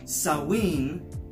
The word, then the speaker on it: Samhain: a fragrance called blue sowwy and I know it doesn't look like they stop smelling it would be called saalim but I looked it up and that's how you pronounce that word so blue sewing oh